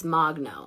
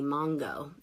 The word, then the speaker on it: Mogno: It's Mogno, and everyone always called me Mongo, and now people do just to be endearing, or Magano, or Mango, or Magno, all the different things.